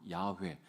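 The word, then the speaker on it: 야훼: wh 그래서이 성경 학자들이 이게 어떻게 발음해야 되나이 모음이 없으니까 자음만 있으니까 이거를 어떻게 발음해야 될지 몰라 가지고 연구하다가 찾아 난게 우리가 우리가 흔히 쓰고 있는 여호와 야회 어 이렇게 이제 쓰고 있습니다 어이 뭐 서기관들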